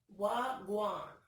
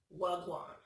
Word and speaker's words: Wagwan: The first one in the fourth row is called Wagwan. That's literally what it's called, and it's spelled WHA-GUWAAN, like they saying what's going on, I think. I think it sounds like what's going on. Wagwan.